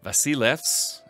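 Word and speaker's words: Basileus: It says Basileos, or Vasilevs, as I was told it's pronounced in Greek, as the emperor and actually the founder of the Macedonian dynasty.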